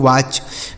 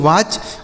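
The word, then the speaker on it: watch: इसे पढ़ेंगे दोस्तों वाच। डब्ल्यू ए टी सी एच। इसे पढ़ेंगे वाच।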